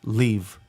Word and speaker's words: Bleave: And I told him, I was like, "Be believe." You like, "It's not believe, but you can't say it without saying believe." Like the E is almost silent.